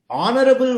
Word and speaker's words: honorable: Honorable word, H is silent.